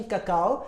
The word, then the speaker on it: cocoa: is pronounced as cacao now this word is pronounced as कोको where ए silent so cacao is अ